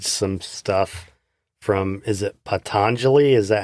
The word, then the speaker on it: Patanjali: seen you've posted some stuff from is it patanjali is that how you say it patanjali yeah but and i have the little book